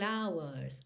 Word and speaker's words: hours: E hours é uma das pouquíssimas palavras em inglês que o H é mudo, então a gente já